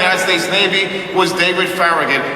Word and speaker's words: Farragut: We don't have to imagine that, because the first admiral in the United States Navy was David Farragut, or more accurately pronounced, David Farragut, descendant of Spanish soldiers.